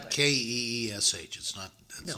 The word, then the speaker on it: quiche: It's plate, not but- Keesh. That's No, not it's a how you QU. spell it.